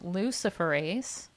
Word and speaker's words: luciferase: and one of the ingredients in it is luciferase yes it's an enzyme and it's called again lucifer ace you heard me correctly can you spell that